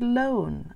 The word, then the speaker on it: lone: Related to this is the word lone. A lone person means they're the only one. L-O-lone. And then I need a silent E to make the O say O.